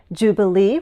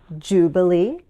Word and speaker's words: jubilee: Jubilee refers to a special anniversary, and we can say jubilee or jubilee.